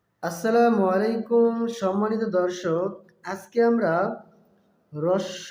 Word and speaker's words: হ্রস্ব: দর্শক, এটার বিশুদ্ধ উচ্চারণ হবে হ্রস্ব উ। অনেকে হস্য উ বলে, আসলে হস্য উ সঠিক উচ্চারণ নয়।